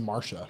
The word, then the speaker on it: Marcia: name you know like spelled that way it's pronounced Marsha in the real world always thought her name